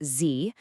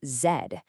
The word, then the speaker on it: Z: In American English, it's Z, but in British English, it's zed.